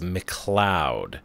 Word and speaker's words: McLeod: It's a good thing he'll never watch this video because I mispronounce his name the entire time. It is McLeod.